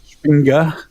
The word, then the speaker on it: Przebinda: He pronounces it like Spinga.